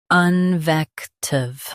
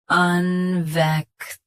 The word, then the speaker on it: invective: Invective. Invective. Stress. Vec. Keep un soft and end with tive.